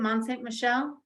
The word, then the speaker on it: Mont Saint-Michel: Mont Saint-Michel?